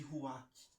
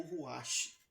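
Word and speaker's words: רוח: O sopro é chamado de ruach, ou ruach, tá bom? Se escreve com 3 letras: Resh, Vav e Sheit.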